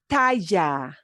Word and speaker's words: talla: Talla, talla, talla, talla. Talla, Yeah, talla. So you can Talla. pronounce it talla or talla, talla, that little ja, but not a real strong one.